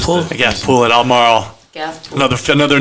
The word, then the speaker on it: Albemarle: like people It's almost like Marlboro, but different.